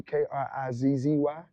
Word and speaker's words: KrizE: so so I just said Krizzy, and the way you would spell it would be Krizzy, but I just put Kriz, capital E, just Krizzy.